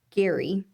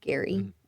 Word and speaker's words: Gerry: Elbridge um Gary Ge Ry but pronounced Gary. Elbridge Gary um basically approved some